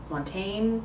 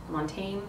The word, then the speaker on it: Montaigne: g NE e so Montaine Mont Montaine it's a French name bear with me it's